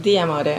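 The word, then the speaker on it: D'Amore: How do you pronounce that? D'Amour Ideas, Inc.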